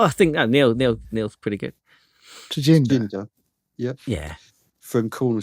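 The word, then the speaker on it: Tjinder: pronounced his first name right? Tajinda. Luke, tell us how to pronounce it. Oh, I think Neil's pretty good. Tajinda.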